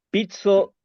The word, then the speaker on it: pico: dejo jé antonioo sí pizzo que se escribe p i c o significa pizza y no significa porque en